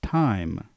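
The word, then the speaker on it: thyme: spice that that's pronounced time so you don't pronounce the th with the the sound like you usually would memorize what that word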